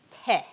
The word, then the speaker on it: 手: take a look at te all right this one's a little easier that looks familiar to my martial arts folks te in both Okinawan Japanese okay is the same pronunciation in Korean it's pronounced